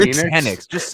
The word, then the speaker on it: Penix: Penix. It's Michael Penix Penix Jr. Michael Penix Jr.